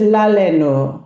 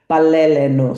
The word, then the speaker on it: baleleno: So she says laleno when the adult form would be baleleno.